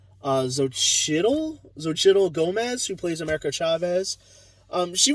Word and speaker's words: Xochitl Gomez: I'm totally gonna mess it up, but I believe it's pronounced Xochitl Gomez, who plays America Chavez.